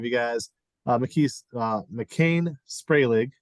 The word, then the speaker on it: Macain Spragling: guys uh McKees uh McCain spray leg correct am I pronouncing that all right yes excellent and Ryan Ruiz who